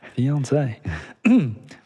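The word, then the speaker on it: fiancé: They put the accent on the E, so I thought I Yeah, fiance.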